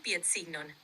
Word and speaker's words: piedsignon: Carbonan piedsignon is Okay. how you say carbon footprint. Piet signon. Can you break down that word? Piedsignon comes from piedo, meaning foot, and signo, meaning sign.